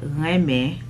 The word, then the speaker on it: renmen: I mean, obviously, for those of you that are not of Haitian descent, you're not gonna know how to say it the proper way. But it is called Renmen.